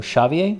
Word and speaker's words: Xavier: Esteban says, alternatively, I've seen some Basque characters pronounce the X as sh, so Xavier? Ah, interesting. But I would stick with the H sound unless a Basque speaker comes forth and corrects us.